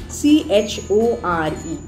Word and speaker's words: chore: So it is chore and not core.